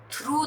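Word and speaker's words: thorough: इसे बोलते हैं थॉरो, थ्रू, थॉरो.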